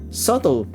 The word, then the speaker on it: subtle: not being particularly subtle subtle silent b and i do all